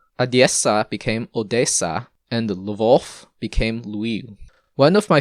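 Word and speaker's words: Lwów: name for lui was lev spelled with ws but pronounced like v's because polsky uses the letter w to represent the sound so the city went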